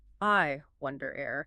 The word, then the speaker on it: iWondAIr: The note says the final syllable needs to drift. I wonder air. It has to trail off like smoke rising into the atmosphere.